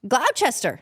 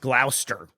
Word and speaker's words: Gloucester: That is pronounced? Gloucester. That's very phonetic of you. It's pronounced Gloucester.